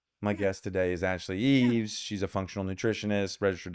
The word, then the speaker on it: Eaves: Eaves. Like eavesdropping.